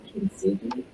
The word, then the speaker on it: kintsugi: There's that Japanese tradition called kintsugi, that's how you pronounce it.